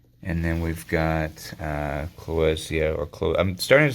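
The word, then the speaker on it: Clowesia: it was Mr Clos so it should be pronounced kosia but anyway semantics two gross on mikab plus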